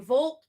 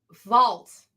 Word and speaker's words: Vault: Shadow Service #2 from Volt. No. I learned how to say this word. I can say it. It's Vault.